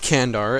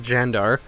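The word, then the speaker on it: Candar: a vassel in uh xandar not kandar as uh people have reminded me literally every episode where I've called them kandar it is not kandar it is like jandar Caesar pronounced weird in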